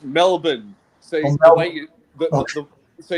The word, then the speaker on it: Melbourne: I I I like how Americans say Brisbane and Melbourne and like that that it's it's it's Melbourne. So the way you So you pronounce it M E L B U N Melbourne.